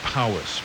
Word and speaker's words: Powys: Let me spell that for you again. Aberhonddu. Next one, Powys, Powys.